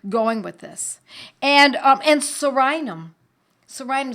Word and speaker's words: Psorinum: Sorinum is spelled P-S-O-R-I-N-U-M. P like in pneumonia.